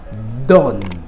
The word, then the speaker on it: donne: On dit donne.